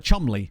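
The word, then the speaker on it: Cholmondeley: is weird there's a few like that like Chumley for example that's another one that people always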